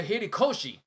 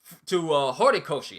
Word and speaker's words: Horikoshi: the hats down, give all the rewards to Horikoshi. Horikoshi. I keep getting his name wrong.